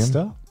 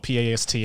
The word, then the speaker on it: pastor: - A pastor? - Pastor, yeah. He's a pastor. So in japan... - Like P-A-S-T-O-R not P-A-S-T-A.